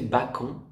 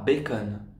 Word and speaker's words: bacon: Quand elle a dit au serveur du resto, une crêpe au bacon, SVP, prononcé bacon, pas bacon.